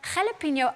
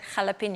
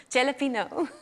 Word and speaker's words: jalapeño: carl heard me pronounce before i pronounced it jalapeno oh no did you say jellyfino can you call laughing in the background i'm not the only one that called it a jelly pinot no it's fine it's